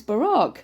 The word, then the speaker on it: Barack: for eight years and that's not right it's Barack Barack yeah but we said Barack ra for 8 years she just rude it's